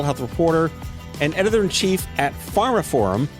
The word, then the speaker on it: Pharmaphorum: reporter and editor-inchief at Pharma Forum. That's Pharma Forum. They spell it weird. P H A R M A P H O R U M. Pharma Forum.